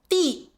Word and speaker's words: 地: 在生活里面没有什么问题但是如果你要考试 However, if you're taking an exam, 后面这两个词就要注意是dì和dé pay attention to the last two words, 'dì' and 'dé'.